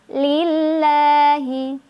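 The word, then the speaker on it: لله: ya Nah maka eh lam jalalah itu dibaca secara tipis nah ini Insyaallah mudah ya karena ee ya memang pengucapan lam pada umumnya ya yang tipis Al alhamdulillahiabbilamin alhamdulillahiabbil alamin lillahi lillahi rongga mulut agak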